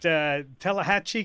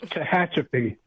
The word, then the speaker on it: Tehachapi: And is it Tallahatchie, California? Or give that to me correctly. Well, Say the whole thing wrong. And the town is much harder to pronounce than that. It's Tehachapi. Thank you.